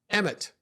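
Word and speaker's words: אמת: Mem is like this water, but together Aleph Mem Tav is pronounced emet.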